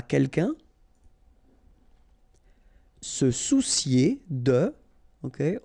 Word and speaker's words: soucier: Se soucier de. Okay, O and U together. Ou soucier. Se soucier de.